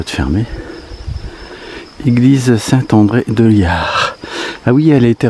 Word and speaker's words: Llar: Alors, nous sommes à Liard. Ça se prononce comme ça.